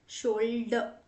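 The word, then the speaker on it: shoulder: से मिलता जुलता है, शोल्डर अ। ठीक है। अब इसमें एंड का जो आर है उसे हम प्रोनाउंस नहीं करते।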